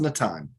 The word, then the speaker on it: Natan: But it's pronounced Natan, right? Natan. So if you think if you take out like Nathan without the H, right? You just drop the H.